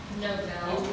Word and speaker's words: Novell: holds a variety of technical certifications with Microsoft, Novell, did I pronounce that right?